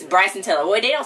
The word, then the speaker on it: Bryson Tiller: Brayson Tiller. Wait, what did you just say this was? Best Male R&B Pop Artist. It said... it's Bryson Tiller.